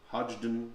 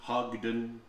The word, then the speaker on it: Hodgdon: on the hodgdon website hodgdon hogden there's some debate about pronunciation i call it hodgdon and they did announce